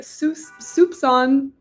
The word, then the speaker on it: soupçon: And every time it has the squiggle, it's a C pronounced like an S. Awesome. Okay, soupçon, a little soupçon of effort.